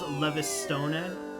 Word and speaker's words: Levistone: You obtain a Levy Stone. It's pronounced Levistone.